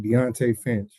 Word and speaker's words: Deonte Finch: amazing on their journey so none other than deontay finch did i pronounce it right yes that's perfect deontay finch that's correct king jacob sir so uh for